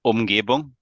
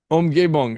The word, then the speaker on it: Umgebung: How do you pronounce that exactly? Oh, Umgebung. Umgebung.